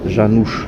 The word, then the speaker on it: Janusz: Janusz, ça se prononce ch. Et ça c'est la même chose, mais c'est un autre ch que ch.